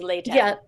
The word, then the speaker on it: Lehtinen: And I'm hearing from the producers it's Lehtinen.